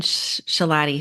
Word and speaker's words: Schilaty: I have Shalatti here with me today.